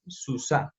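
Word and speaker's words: סוסה: Y a la anterior a la hey, la letra que esté anterior a la hey, la vamos a decir con la A. Entonces por eso queda susá. Pasamos de decir sus a decir susá. Esta hey de aquí no suena, pues porque esta hey es muda.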